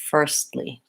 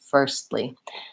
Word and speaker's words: firstly: T first Li but I'm only gonna release into the L so I won't really have the first B but rather a stop T releasing into L firstly firstly first syllable stress and short second syllable stress this is one that